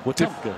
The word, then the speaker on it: Wetumpka: It's almost like a W-U-H in the... Wetumpka. Wetumpka. So I said it right the first time. Yeah, it's not... It's not W-E-E.